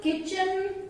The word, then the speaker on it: kitchen: Words are given where T is silent. In words के pronunciation में T silent रहता है. So the words are like castle, depot, listen, often, fasten, bristle, kitchen, Christmas, rustle.